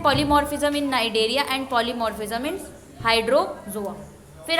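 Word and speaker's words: Cnidaria: यहाँ पे आपको करना है फाइलम स्नाइडेरिया। तो मैं स्नाइडेरिया बोलते पर आप नाइडेरिया बोलेंगे क्योंकि नाइडेरिया सी इज साइलेंट।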